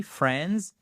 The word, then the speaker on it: Friends: Résultat, 10 ans de Friends, sans prononcer le i, Friends, 15 saisons de Grey's